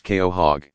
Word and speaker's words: quahog: very long time with a Quahog pronounced Keo hog living around 150 years